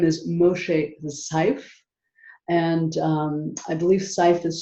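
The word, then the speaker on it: Szyf: His name is Moshe Seif, and I believe Seif is spelled SYZF.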